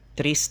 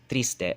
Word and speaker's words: triste: For example, this word here, triste, is how it's pronounced, triste, but Chabacano speakers will have a tendency to say triste, tra, right? They have that tendency when it's supposed to be a tr.